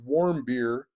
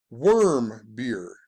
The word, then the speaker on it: Warmbier: had the murder of although it says warm his name looks like warm beer but way back when that stories were coming out they even showed how to pronounce it and the article on CNN and said his name was pronounced worm beer and then Dennis Rodman